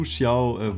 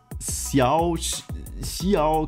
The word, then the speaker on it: Xiao: ja, ich wurde in meinem letzten Video zu Xiao, wurde ich darauf aufmerksam gemacht, dass ich ihn falsch ausspreche und sowas nagt natürlich an meinem Selbstvertrauen und an meiner Seele.